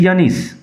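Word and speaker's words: John: নাও দ্য boy whose name was জন, উচ্চারণ লক্ষ্য করো, জন নট জোন।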